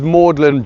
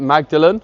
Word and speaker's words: Magdalen: It's spelt very odd. It's spelt as if you'd pronounce it Magdalene, as in Mary of Magdalene. But it's Thomas Audley, he insisted on the pronunciation Magdalen, and this is because you